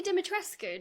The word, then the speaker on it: Dimitrescu: 5, Lady Dimitrescu. Don't come for me. I looked up the actual Romanian pronunciation. Capcom got it wrong. I'm probably also saying it wrong, but you do pronounce the ending.